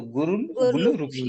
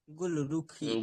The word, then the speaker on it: गुलरुखी: तो गुरुखी गुलुखी ध्यान रखना। गुलरुखी गुलरुखी एक स्पेलिंग मिस्टेन है।